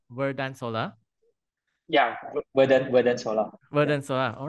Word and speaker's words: Verdant Solar: Yeah, Verdant Solar.